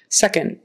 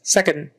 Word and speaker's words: second: D even a t second I'm in second place second second it's not really a t it's not really a d somewhere in the middle you just kind of